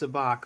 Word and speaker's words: Sabacc: I know it's pronounced Sabacc, but I wanted to.